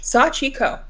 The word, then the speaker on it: Sachiko: wrote above the Sachiko, I tried to create a phonetic pronunciation guide with a SAW, SAW, dash, CHEE, dash, KOH, Sachiko.